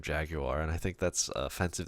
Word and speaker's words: Jaguar: know it was smart Jaguar you'd say jag your or Jaguar that's it at Jaguar was only for Jaguar nobody says that yes plenty people say that's how it's actually like closer to how it's spelled we're anything where did